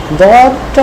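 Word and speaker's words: ضاد: চলে আসলো তখন এটা দদ হয়ে গেল, এবং এ পাশে কানেক্টর, এবং সে কানেকশন নেয় এবং অপরকে দেয়। আর দদের উচ্চারণটাও হবে সাধারণত অসাউন্ড। কেমন মোটা উচ্চারণ, অসাউন্ড হবে।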